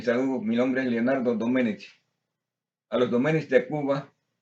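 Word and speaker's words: Domènech: Hermanos, a los hermanos de la familia de mi abuelo que se llamaba Mariano Domenech, con acento en la Domenech, de Cataluña o de Asturias, como quiera, porque él era como gallego, él era de España.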